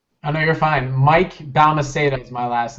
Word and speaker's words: Balmaceda: Mike Balmaceda is my last name. Balmaceda.